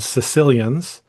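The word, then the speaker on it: caecilians: You have little legless amphibians called Sicilians. Um, not the ones from Sicily. It's spelled with a C, not an S.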